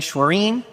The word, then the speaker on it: Schwerin: Ours is Bishop Dan Schwerin, rhymes with tangerine.